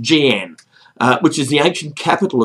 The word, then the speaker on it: Xi'an: I think it's pronounced Jian, which is the ancient capital of China where the Terracotta Warriors are.